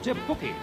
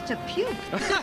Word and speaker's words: Te Puke: last week came from Te Puki. Te Puki? I thought it was Te Puke.